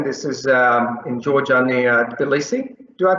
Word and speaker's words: Tbilisi: And you might be wondering, this is in Georgia near Tbilisi. Do I pronounce it correctly? Tbilisi?